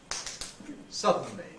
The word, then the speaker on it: suddenly: usually pronounce it Sub sub but how many syllables does it have suddenly not two it has three suddenly suddenly how